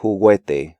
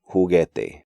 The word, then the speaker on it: juguete: These letter combinations do not constitute diphthongs because U is silent in these sequences. So not quitar, but quitar, not querido, but querido, not seguimos, but seguimos, and not juguete, but juguete.